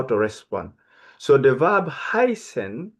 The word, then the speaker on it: heißen: So the verb heißen, remember, we talked about this letter. We said we read it S in German language. It looked like capital B, but it's not capital B.